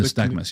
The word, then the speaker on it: nystagmus: Nystagmus, is that how you pronounce it? Nystagmus, yeah.